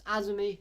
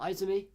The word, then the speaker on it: Asumi: And I just want to start off by saying, seeing Asumi, because I've realised now that I've been pronouncing her name wrong. It's Asumi, not Izumi.